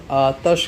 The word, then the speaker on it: آتش: آتش کا بنے گا۔ بعض لوگ اس کا تلفظ آتش کرتے ہیں زبر کے ساتھ۔ اگلا سوال، تدریس کو